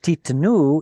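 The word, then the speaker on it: תִּתְּנוּ: But titnu is the normal form, where the stress moves to the end of the word, and the tzere drops to a shva.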